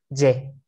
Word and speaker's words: je: ¿Cómo pronunciamos esto? Sí. Esto, ye. Ye. ¿De acuerdo? Pues, je es yo. Ye es yo tengo.